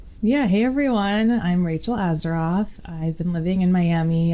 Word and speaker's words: Azaroff: I'm here with my very good friend Rachel azero did I pronounce that right you did thank you amazing